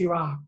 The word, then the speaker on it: Heerak: Actually, I use my middle name, because, you know, my first name is hard to pronounce, Iraq, so I kind of went by my middle name.